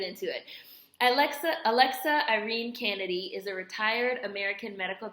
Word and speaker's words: Canady: Kennedy this is spelled c a n a d y which to me looks like Canady but I'm pretty sure it's Kennedy um Alexa Kennedy she